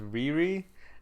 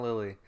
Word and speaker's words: Riri: I watched it in the dub, and so she like intentionally pronounces it as Riri, and says no. It sounds similar to Lily, but it's Riri. It's not Lily.